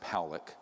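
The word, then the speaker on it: Pawelec: 600,000 views this man William Pock is pronounced poic uh was a man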